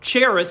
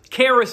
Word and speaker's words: Charis: this word for Grace a word called Charis or cherish some people pronounce it but Keras is what I like to say and it's this idea